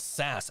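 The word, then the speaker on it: SaaS: revision because you said sas s-a-a-s it's uh software-as-a-service and if you go on wikipedia and you look up software as a service it tells you the pronunciation of of s-a-a-s is sas okay he says oh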